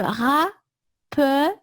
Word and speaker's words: rappeler: Se rappeler. Ouais. Okay. When you have 2 L's or 2 consonants for that matter after an E, that E is pronounced E.